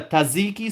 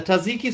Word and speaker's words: tzatziki: JW writes, "Oh, the tzatziki sauce. Is that how it's pronounced?